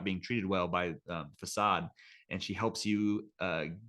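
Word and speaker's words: Fassad: P his kind of owner or this Peddler facade uh is that how you say his name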